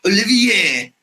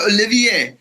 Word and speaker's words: Olivier: French surname it's pronounced Olivier right like Olivia the football player or like my uncle from Bellville says right so Olivier it's a French surname and I grew up